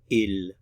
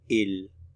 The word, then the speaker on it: ils: they notice we don't pronounce the final consonant they ill they ill they they referring only